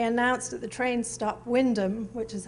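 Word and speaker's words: Wymondham: and when they announced that the train stopped windham which is how he pronounced it in norfolk he missed his stock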